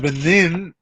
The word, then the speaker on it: Lebanon: Lebanon was named and then they decided to pronounce it leanin to be disassociated with